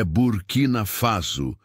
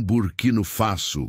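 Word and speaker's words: Burkina Faso: É burquinafaso, não burquino faço, como o senhor pronunciou, corrigiu Traoré com um leve sorriso.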